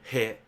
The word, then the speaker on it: へ: Um but right now you just remember this is a called he but normally we don't pronounce it this way. Okay. We pronounce this e but uh just let's just follow the rule here.